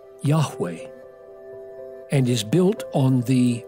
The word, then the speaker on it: Yahweh: But the Hebrew would be pronounced something like Yahweh, and is built on the word for I am.